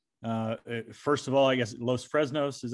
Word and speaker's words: Los Fresnos: First of all, I guess Los Fresnos is how you say it.